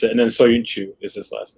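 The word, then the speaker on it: Söyüncü: That's how you pronounce it. And then Soyuncu is his last name.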